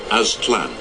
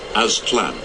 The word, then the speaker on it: Aztlan: Aztec history speaks of an ancestral home, Aztlan. now, that's, I guess, how it's pronounced. If you pay me money, I still couldn't pronounce that. Aztec history speaks of an ancestral home, Aztlan, a lake somewhere in northern Mexico.